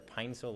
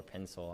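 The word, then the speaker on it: Pinecil: How do you pronounce P-E-N-E-C-I-L? P-E, pencil. I think I've been saying either Pinesil or pencil. I'm not really sure. I think it's Pinesil is what they want.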